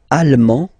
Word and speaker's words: allemand: L'Allemagne, allemand, allemande. Okay, same thing here. Okay, you don't pronounce the final D, but then you pronounce it here for the feminine form.